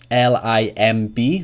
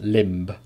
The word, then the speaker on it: limb: lullaby memo wrote Lim Li MB is a great example but of course it's just pronounced limb not limp so what other examples